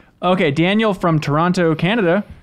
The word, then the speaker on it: Toronto: Daniel from Toronto, Canada says, I wrote in last week about Halloween costumes and Ben mispronouncing the names of Canadian cities.